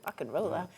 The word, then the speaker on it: Rock and Rolla: Rock and Rolla.